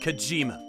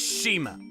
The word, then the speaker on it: Shima: It's not Kojima. It's Shima.